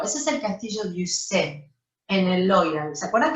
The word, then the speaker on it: Ussé: El castillo de Ussé, así se pronuncia en francés, es el castillo donde